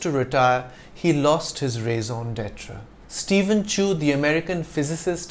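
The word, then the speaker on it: raison d'être: with a longer sound so the phrase is pronounced in French though in English it's simply raise on Detra your raise on Detra is what is most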